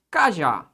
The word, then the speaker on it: cajá: Qual é a sílaba pronunciada com mais ênfase? É a última. Cajá. Ó, a sílaba tônica é essa aqui, ó. Por isso que ela é uma oxítona.